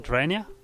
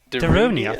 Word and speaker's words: Darunia: How do you pronounce his name? Durania? I don't know. Darunia, thank you. Darunia? Yeah, that's it.